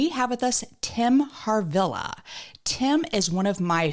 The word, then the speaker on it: Harvilla: to your face did I say it right harilla harilla harilla okay har y as I was saying I'm